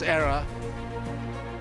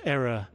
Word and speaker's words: era: that McCullum and Stokes era. Just unlocking a few talented batters are England. Just got to be very careful, Baz, when you pronounce error. We pronounce era to make it distinct from a mistake.